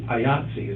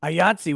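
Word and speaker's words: IATSE: the actual stage employees ayatsi is their name ayati is the union of control ayatsi which rhymes with Nazis so I think they're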